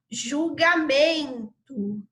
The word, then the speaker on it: julgamento: julgamento percebam qual é a palavra que a sílaba que a gente dá mais entonação quando fala então repito lá julgamento não parece que tem um acento doer julgamento